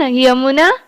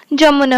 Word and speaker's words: यमुना: जैसे कि देखो, हिंदी रे कौन, यमुना, हिंदी रे कौन, यमुना उच्चारण हुए, ओडिया रे कौन, जमुना हुए।